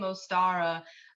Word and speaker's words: Ostara: a little bit about ostara which um I think it's interesting that her her name ostara um the star part in the pronunciation is what's highlighted or accentuated um so star is